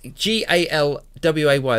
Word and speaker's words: Galway: Yes, the Americans would probably pronounce that Galway.